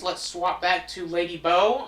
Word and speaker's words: Bow: For story reasons, let's swap back to Lady Bo. I'm going to try and call her Bo, because I do think that that's how you're supposed to pronounce her name. Again, because of the bows on her head.